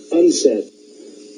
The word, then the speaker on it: UNCED: It is pronounced UNCED.